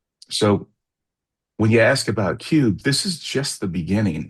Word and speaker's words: QUB: So, hope that hope that gets to your question, but that's that's what cube is all about. Yeah, I should have pronounced it cube.